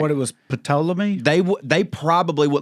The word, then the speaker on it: Ptolemy: So like what it was Ptolemy?